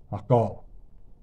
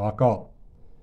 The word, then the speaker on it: Hakarl: found the Pickled steel alcohol and yes that is how you say it Afrikaans guys you'll have an easy time remembering it it's just the same as Circle so alcohol um very beautiful knife